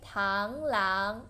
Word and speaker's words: 螳螂: Second tone, 螳螂, nice.